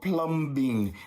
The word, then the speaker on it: plumbing: And that's why there's people who work in a job called plumbing. No, we don't say the B. The B is silent, but plumbers and plumbing